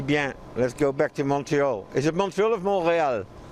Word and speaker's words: Montreal: the english side so i say montreal because it's mount royal yes that's what it is from exactly so it should be montreal montreal's you're saying it